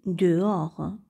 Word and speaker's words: dehors: dire je sors dehors ici le h ne se prononcent pas on dit dehors c'est à dire à